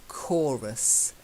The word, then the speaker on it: chorus: The next one is the hard C. It's not like church, it's chorus.